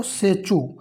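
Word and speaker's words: Tsechu: Next है कि पारो पारो पारो सेचू सबसे लोकप्रिय त्यौहार है। तो यहां पे टी जो रहेगा साइलेंट रहेगा।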